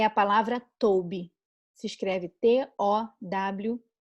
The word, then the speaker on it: tob: No original, no hebraico, é a palavra tob. Se escreve T-O-W-B.